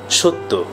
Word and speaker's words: সত্য: আমরা লিখব সত্য কিন্তু উচ্চারণ করব সত্য। আমরা লিখব তথ্য কিন্তু উচ্চারণ করব তথ্য। এর কারণ হচ্ছে অয়ের পর জফলা রয়েছে।